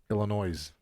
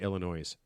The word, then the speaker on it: Illinois: I mean how do you not know that Illinois? Are there people out there like do the other states pronounce the S?